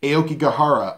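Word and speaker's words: Aokigahara: Dormer she's searching in the Japanese forests of Aoki Kihara and yes I did have to double-check that just to get the pronunciation right Aoki Kihara otherwise known as the Japanese suicide forest and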